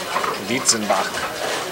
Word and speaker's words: Dietzenbach: Dietzenbach, pronouncing it the German way.